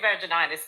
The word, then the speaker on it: vaginitis: Okay, I did say vaginitis then. I did say it right.